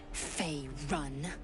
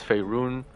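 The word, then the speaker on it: Faerûn: You educate me in Fey Run, and no, it's Fey Rune.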